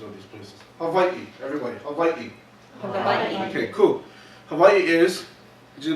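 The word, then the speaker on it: Hawaiʻi: the indigenous names of these places Hawaii everybody hawaiii okay cool Hawaii is you know our 50th state became part of the Union in 1959 haai the term Hawaii serves as the name or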